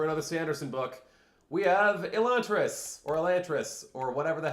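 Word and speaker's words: Elantris: related books and uh this book has no consistency in which companies pronounce the name which way so I'm saying elant because the 10th anniversary audio book which is the one that I own uh pronounced it elant however some later stories like the hope of elantas pronounced it elantas and it's it's kind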